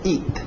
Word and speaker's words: eat: To eat, aquele T bem nítida. Eat, para no T, eat. Isso, EA, som de I, to eat.